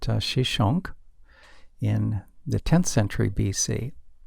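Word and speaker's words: Shoshenq: Another major military conflict involved Pharaoh Shishak, whose name is pronounced Shishonk, in the 10th century BC.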